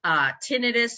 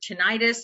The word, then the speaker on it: tinnitus: related symptoms, hearing loss, tinnitus or tinnitus. I know there's different ways that people pronounce it, ringing in the ears.